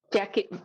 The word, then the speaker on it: Jackey: Yeah, Jackey.